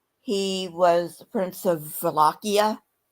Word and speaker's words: Wallachia: Um, he was the Prince of Wallachia. That's with a W. That starts with a W. It's pronounced like a V, but it's a W.